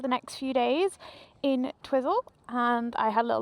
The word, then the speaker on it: Twizel: Are we sure it's pronounced Twizel and it's not Twizzle? Why would it be Twizzle? I don't know. It's Twizel in my book.